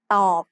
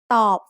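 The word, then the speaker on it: ตอบ: ต อ บ follows the same tone rule we just learned. Middle class consonants with a dead syllable form a low tone.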